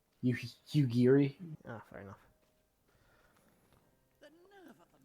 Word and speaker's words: Yugiri: Yujiri? Yugiri.